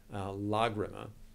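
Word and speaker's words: Lágrima: It's hard to kind of keep up with all the pronunciations, but Lagrima, which is Spanish, does have that accent over the first syllable.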